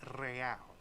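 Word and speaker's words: réal: you owe me 130 real he pronounces the r with a mock aristocratic accent the I or inter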